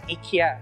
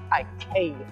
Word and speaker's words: IKEA: always pronounce this as ikea actually the correct swedish pronunciation is ikea so cherish has a